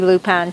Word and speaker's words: lupine: don't she's called the lupine lady okay how do you say it that's a loop on to okay and she